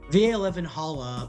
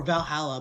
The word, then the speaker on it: VA-11 HALL-A: It's good thing it's actually just called Valhalla. The funny numbers and letters are just a code.